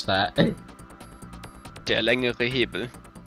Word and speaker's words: längere: Der längere Hebel. Der längere Hebel. Längere. Längere. Yeah. If you guys pronounce the E at the end.